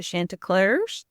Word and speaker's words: Chantecler: the I'm going to say it wrong the Shanta clar Perfect all right nice so tell us about